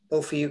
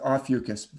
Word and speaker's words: Ophiuchus: do with ofie ofus is that pronounced correctly ofus yes it can also be pronounced Aus dictionary says both ways so but but this